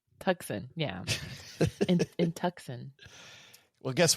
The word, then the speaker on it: Tucson: You're going to have, I think it's pronounced Tucson. Tucson, yeah.